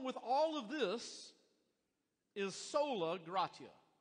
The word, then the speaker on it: sola gratia: all of this is sola gratia or if you if you like the uh if you want to pronounce it a different way sola gracia but we're going to go with sola gratia that really flies in